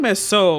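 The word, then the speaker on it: Meursault: I've been saying Mesol a lot lately because I've been in circles that are pronouncing his name correctly. I don't want to respect the French language!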